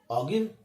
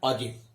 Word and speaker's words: ogive: साडे को OGIVE ऑगिव नहीं, इहनूं असीं प्रोनाउंस कितना करना है, ऑजिव।